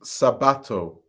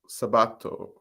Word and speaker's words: Sabato: Dior or Nissan also it's pronounced Sabato Sabato Sabato the rest is like you read in English interesting one thing I